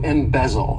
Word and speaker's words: embezzle: good one embezzle to embezzle this verb has three syllables and the stress is on that second syllable embezzle embezzle and what it means is